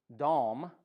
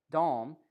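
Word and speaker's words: דם: guilty of blood guilt that word dom the way you would pronounce dawn is just an m on the end of it dom the way this is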